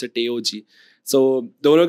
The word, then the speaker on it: TAOG: That's how you pronounce it, TAOG.